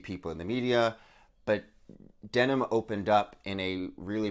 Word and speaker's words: Denholm: Denholm. So yeah, it's like you don't jeans. pronounce the H or the L.